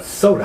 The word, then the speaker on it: Sota: Yeah, Sota. How's that? You spell it S-O-T-A?